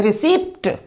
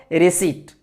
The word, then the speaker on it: receipt: तो क्या बोलते हैं, इसको क्या बोलते हैं, रिसिप्ट, नहीं ये रिसिप्ट नहीं है, पी साइलेंट है, क्या बोलेंगे इसको, रिसीट।